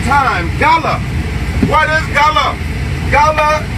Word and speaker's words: Gullah: Gullah, the proper way to pronounce Gullah is the law.